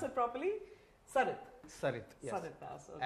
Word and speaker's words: Sarit: Sarit. Sarit, yes. Sarit Das, okay. Actually, my name is in Bengali, Shorit. But now I am Sarit.